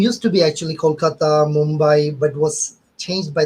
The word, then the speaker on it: Kolkata: And I'm half Bengali too, but from Kolkata, I believe it's pronounced. So. Kolkata now, yeah. It's like used to be Calcutta, now it's Kolkata.